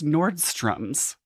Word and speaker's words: Nordstrom: How do you pronounce it? Nordstrom. I guess I really kind of went in there with it. It's Nordstrom's.